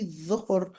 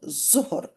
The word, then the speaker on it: ظهر: I know they write zuhr, but it's actually dhuhr and not zuhr. So it seems like in the language of a lot of the Muslims is that the letter the is actually pronounced as za, but that's not proper in Lugha Arabiya, but anyhow.